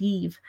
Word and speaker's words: daoibh: Of course, daoibh can also be pronounced yeeve.